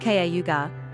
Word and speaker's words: Cayuga: in cayuga county in auburn n.y pronounced kaugar cayuga county is known